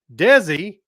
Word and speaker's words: DESI: much more to come desi pronounced like desi arnaz's name wow that's three times